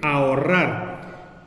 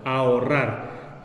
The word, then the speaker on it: ahorrar: Aquí hay una H entre la A y la O, pero como en el español la H no se pronuncia, sí se puede formar el hiato, ya que no la vamos a tomar en cuenta como si fuera una consonante que está en medio de dos vocales, porque no la pronunciamos.